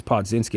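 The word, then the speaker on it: Podziemski: I think it's Podzinski. I was saying his name wrong.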